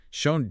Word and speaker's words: shown: Shown just attaches an N to that exact same O sound. It rhymes perfectly with bone or phone. All right. It is absolutely not pronounced Shawn.